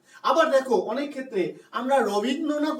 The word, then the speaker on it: রবীন্দ্রনাথ: আবার দেখো, অনেক ক্ষেত্রে আমরা রবীন্দ্রনাথ উচ্চারণ কিন্তু কেউ করি না, রবীন্দ্রনাথ উচ্চারণ করি। তাহলে র এর সঙ্গে অ আছে, অ ধ্বনি আছে, আমরা উচ্চারণ করছি ও ধ্বনি।